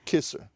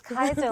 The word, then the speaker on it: Kaiser: Is it Kaiser Kaiser, that's it. or Kisser? It's Kaiser like the roll, Kaiser. but not spelled like the roll.